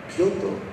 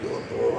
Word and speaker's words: Kyoto: And so the producers are trying to get me to pronounce Kyoto properly. And they're like, Kyoto.